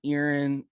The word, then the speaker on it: Erin: local market up in erin uh or aaron depending on how you want to say it um i say earring because that's how the locals say it um i've been there since i was 13 so of course that's just natural for me to say it like that um we'll be there